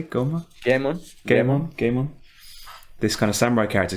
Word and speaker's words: Goemon: Goemon.